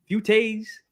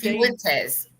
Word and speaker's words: Fuentes: Nick uh is is that dude name pronounced Futes. Fute Fuentes.